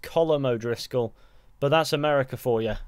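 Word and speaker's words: Colm O'Driscoll: desires at some point finding himself partnered with kool Moe Driscoll which is actually apparently pronounced colum O'Driscoll but that's America for you how their partnership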